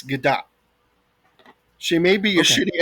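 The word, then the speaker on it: Gadot: I don't want to um actually you Raph, but you pronounce the T. It's Gdat.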